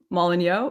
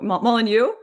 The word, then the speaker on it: Molyneux: do people pronounce it mollin yo mullen you no you're pronouncing it with like a french accent or something i took for granted